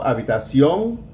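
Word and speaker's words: habitación: a be tossed yo with the accent on the o habitacion or they're going to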